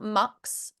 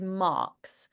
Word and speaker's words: marks: It's not marks. Be careful. It's not mucks, and it is marks.